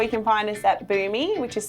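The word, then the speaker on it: Bumi: can find us at boo me which is spelt be um I so reads like bummy but trust me is for me oh you're fine is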